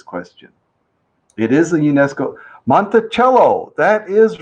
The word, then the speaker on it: Monticello: i believe it's pronounced monticello uh just like the musical instrument right cello right didn't that spell